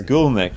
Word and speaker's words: Goolnik: It's Goolnik, but I've given you the way to pronounce it. It's Goolnik. A lot of people get it wrong.